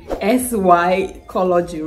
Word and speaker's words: psychology: possible to just say sycology right do you have to put the P the p is just irrelevant there but I guess that's